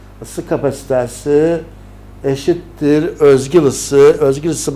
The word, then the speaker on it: özgül: kapasitesi eşittir Özgül ısı Özgül ısı bakın böyle sye benzeri ancak Z okunur Biz s de sayilik